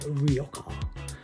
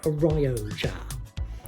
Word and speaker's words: Rioja: Now, I've noticed some wannabe wine snobs would call this a Rioja, but I prefer the more phonetic traditional pronunciation of a Rioja.